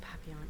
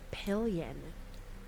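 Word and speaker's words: Papillion: So, I thought for sure that it would be pronounced papon. And I'm sitting at the closing table from my house and um they go, "Oh, yeah. something like pilion.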